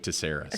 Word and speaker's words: Tsairis: before on the podcast have you since started pronouncing your last name Cyrus did I convince you or you did not but I do like that better don't tell my parents no oh yeah you're sticking with taras sticking with taras that's